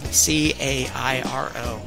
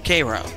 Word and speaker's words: Cairo: So usually what happens is you take the Mississippi down to Cairo, and yes, in Illinois, we call the city that's spelled C-A-I-R-O, Cairo, not Cairo. We're not in Egypt.